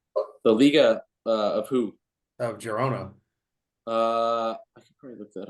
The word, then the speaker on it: Girona: and that Barcelona match and how do you pronounce them again, Trent? What'd you say? Girona Girona.